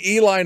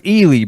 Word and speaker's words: Ely: me Jeff yeah well you grew up in Eli Nevada it's pronounced elely be careful elely oh okay elely Nevada is